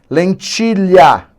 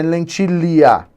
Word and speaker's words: lentilha: queijo cont consonantal chance lentilha não é lentia não lentil né rainha carreta furacão Olha